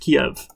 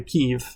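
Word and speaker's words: Kyiv: So apparently it's not pronounced Kiev. The natives there say Kiev, and apparently our State Department does, but the memo didn't get to other people.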